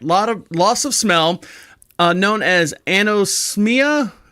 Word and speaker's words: anosmia: Loss of smell, known as anosmia.